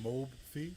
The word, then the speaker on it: Mobfi: i so back up real quick so it's pronounced mobe fee yeah mobe feed tv did that stand for